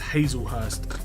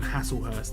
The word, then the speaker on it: Hazelhurst: says that his last name is pronounced Hazelhurst. I called him Hasselhurst.